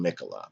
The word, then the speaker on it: Michaela: I think it's pronounced Michaela, based on her nickname.